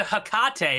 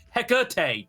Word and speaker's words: Hecate: That's not how you pronounce that at all. That's uh I'm sorry you don't know how to pronounce ancient Greek. me. I'm a classics major. off. Hecate." That's pronounced with an uh not an ah the drink is takate.